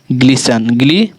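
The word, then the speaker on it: glisten: जैसे सुनिए, समझिए, देखिए LISTN, लीसन, ठीक है, लीसन, टी हमारा क्या है, साइलेंट है, ठीक है। लीसन, ऑप्टेन और GLISTN, ग्लिसन, ग्लीसन, ठीक है।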